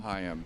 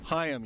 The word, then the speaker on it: Chaim: Chaim. Chaim. You see, I mispronounced it.